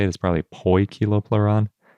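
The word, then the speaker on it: Poekilopleuron: think sometimes we pronounce poikiloploron kiloploron or pokiloploron but I think the most accurate way to say it is probably poi kiloplaron even though it's spelled Poe anyway before we get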